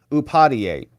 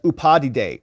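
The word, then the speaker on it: Upadhyaya: the arraignment in DC that woman on MSNBC was like judge upadhi day or something and we're like no that's not how you pronounce it and she said well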